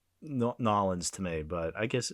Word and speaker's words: New Orleans: It seemed more like Norins to me, but I guess I guess Vegas theoretically could. We're going waxy. We're going to New Orleans. It's pronounced nor New Orleans.